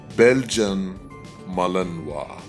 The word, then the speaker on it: Belgian Malinois: also sometimes as belgian malinois however the correct pronunciation of this dog breed is belgian malinois i'll say it again belgium malinois i hope this video was informative to you